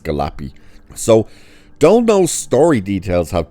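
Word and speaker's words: Galluppi: I think it's pronounced Galapy.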